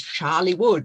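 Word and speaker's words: Chorleywood: read in hertfordshire but the moment you pronounce it you understand where it is because it's charlie wood which is just down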